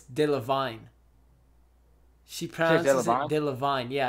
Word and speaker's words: Delevingne: she no Cara Delevingne you say her name Carla Carla delle Vigne it's dill of vine she probably loved vine